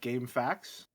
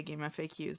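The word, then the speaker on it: GameFAQs: I've always pronounced this like as if like game facts instead of acronym. We're going to fight. I also say game facts, but I I heard someone else say game FAQs and I deferred.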